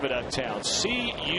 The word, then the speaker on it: Cullowhee: How do you pronounce the name of that town? C-U-L-L-O-W-H-E-E. Cullowhee. Cullowhee.